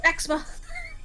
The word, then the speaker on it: eczema: It was just eczema the whole time. Everyone in Hanami Zawa just had eczema. Yes. Rejust. Run the pronunciation by me again. Eczema. Eczema. I had a whole extra syllable.